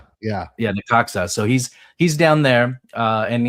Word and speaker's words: Necaxa: he's at, I can never say it right, Necaxa. Yeah, Necaxa.